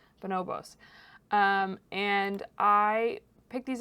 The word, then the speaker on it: Bonobos: on that list bonobos I always pronounce it bonobos which is wrong bonobos um and I picked